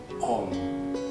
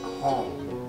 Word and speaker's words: Om: A, U, M, Aum disingkat menjadi, setelah mengalami persandian menjadi Om. Jadi kalau pengucapannya vokal O, bukan Hom.